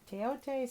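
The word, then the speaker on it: Thoth: the Teote deck, which I'm sure a lot of people pronounce it Toth, but I was taught Teote, so that's how I pronounce it.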